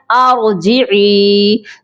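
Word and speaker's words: ارجعي: ارجعی الی ربک راضیۃ مرضیہ. اس کے سپیلنگ کرتے ہیں.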